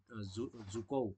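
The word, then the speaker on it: Dzukou: जुको जुको valley, D silent है यहाँ पर।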